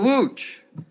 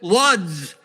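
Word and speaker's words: Łódź: I just said oh how do you spell wooch and he looks at me says oh it's it's l-o-d-z I'm like in English you would pronounce that luds I would never get off at luds if I was going to wooch and so if I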